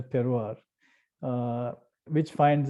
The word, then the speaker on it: terroir: i like to use which is often mispronounced as terror that i am part of the wider terroir uh which finds its